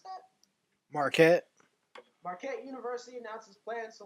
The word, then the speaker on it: Marquette: How do you pronounce that? Marquette.